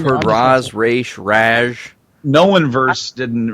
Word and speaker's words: Ra's: Yeah, I only say Ra's because Denny O'Neil, who created Ra's al Ghul, always says in interviews, he always calls him Ra's.